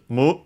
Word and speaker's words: む: Then we have the number six followed by the uh general purpose counter to and so we have to use the uh strictly Japanese pronunciation of six which is mu in this case with